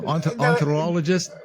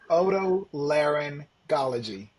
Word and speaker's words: otolaryngology: No, Ontologist? oto otolaryngology.